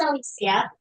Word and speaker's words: Alicia: Hey, um I pronounce it Alisia.